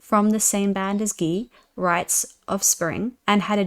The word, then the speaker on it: Guy: With more shouting than the other guitarist vocalist Guy pronounced G. So Gee, who has a more higher singing quality?